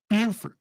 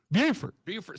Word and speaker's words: Beaufort: is beautiful yeah uh of course you gotta put the emphasis on beauty from right here in